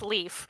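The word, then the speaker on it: Líf: Obviously, it's L I F, but it's not an I. It's got the Yes, it's pronounced Leaf.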